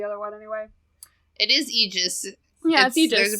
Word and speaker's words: aegis: say about the other one anyway it is egis there's a pronunciation guide on this one I'm just happy that there's a pronunciation I knew that it was egis so I'm just glad I read the pronunciation